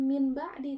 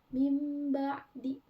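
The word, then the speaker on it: مِنْ بَعْدِ: ini lihat di PPT yang harusnya min ba'di tapi karena huruf iqlab bnya jadi mim ba'di. Nah, ada mim kan di atas. Heeh. Jadi itu dibacanya mim ee mim ba'di. Bukan min ba'di tapi mim ba'di.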